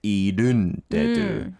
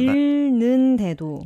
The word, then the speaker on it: 잃는데도: 모든 걸 다 잃은데도, I think she said 잃은데도. But it's meant to be, how do we pronounce that? 잃는데도. 잃는데. That's difficult. Yeah. 잃는데도. It's kind of like a tongue twister, but you can do it. 잃는. You don't really consider the H, the H here, under the 일.